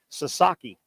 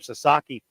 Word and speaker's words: Sasaki: There's another absolute, what MLB thinks is going to be a star pitcher coming out of Japan, Sasaki. I think that's how you pronounce his last name, Sasaki.